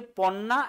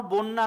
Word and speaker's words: পন্না: 3জন poet flourish করেছিলেন, একজনের নাম হচ্ছে পম্পা, একজনের নাম হচ্ছে পন্না, একজনের নাম হচ্ছে রন্না। এটা ঠিক করে নাও, বন্যা নয়, এটা পন্না, PONNA।